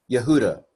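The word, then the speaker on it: יהודה: Kamatz, Hey is another vowel, 1-2 punch. It's just pronounced ah. We ignore the Hey when it's the last letter with a kamatz.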